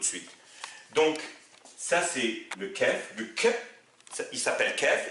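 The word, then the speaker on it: كاف: dernière lettre qu'on va faire aujourd'hui c'est le Kef et je j'insiste à la faire aujourd'hui pour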